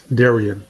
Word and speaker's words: Darian: is a question uh Daran Daran if I'm pronouncing if I'm mispronouncing your name please correct me yeah no it's it's Darian so you're good Darian okay how you doing